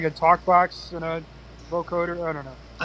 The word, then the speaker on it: vocoder: And I I know it's kind of cheesy, but they How do you The Vocader? They have the the Vocader. I don't know if that's how you pronounce it. That vocoder.